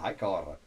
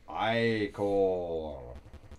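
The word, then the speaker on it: ichor: fill it with magical hior that's pronounced iore choose your iore wisely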